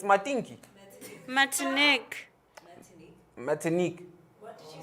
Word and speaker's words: Martinique: Are you pronouncing it right? No. It can't be Mantinque. It's Matinki. Martinique.